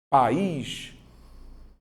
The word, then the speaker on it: país: vai te ajudar então você vai fazer país ó eu tenho duas sílabas país se eu tenho vogal para cá vogal para cá então é aquilo que eu chamo de hiato como eu coloquei aqui ó tá vendo vogal mais vogal só que em sílabas diferentes Então vou classificar aí